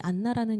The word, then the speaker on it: 안나: 이게 헬라어 발음이에요. 안나.이 이 히브리어로는이 안나라는 이름이 뭐냐면 한나예요.